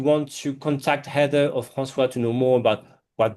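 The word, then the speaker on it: François: It's f R A N C O I S, not S W A a as I've seen at Starbucks. Uh even though it's pronounced like that, Francois.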